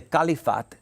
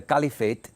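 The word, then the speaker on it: caliphate: simply means successor and the kalifat or the califate depending on how you hear it pronounced is the office of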